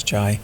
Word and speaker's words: Jai: Now you with Jai and Jay and all of that. I mean, J-A-I, how do you say it? Jai. Jai. It's an I. You say Jai and I say Jay.